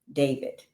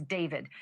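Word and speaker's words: d4vd: That fact has got to be hitting home tonight, literally for the singer known professionally as David, spelled D4 VD. I know it's strange, but it's pronounced Dave.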